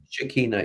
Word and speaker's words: Shekinah: So what we're saying is, during that period, reference to the ascension experience or contact with the is it the Shekinah? Did I pronounce that? Shekinah, yeah.